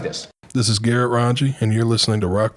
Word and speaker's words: Rongey: Hanging out today with Garrett Rongey.